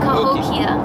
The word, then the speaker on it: Cahokia: now I know it's Cahokia Kia because it like it has Ikea at the end Cahokia there you go yeah I